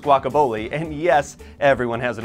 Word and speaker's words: Guaca Bowle: Yes, it's pronounced Guaca Bowle, and yes, everyone has an opinion about it.